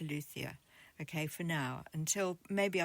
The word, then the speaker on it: luthier: September, a luia or as I've heard I've heard it pronounced Lutier, but I I feel a bit knobbish if I say that. So, I'm I'm going to stick to Luthia, okay, for now until